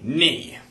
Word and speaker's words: Nny: you may call me kn what like with a K like KN no but it's pronounced the same way okay well that that's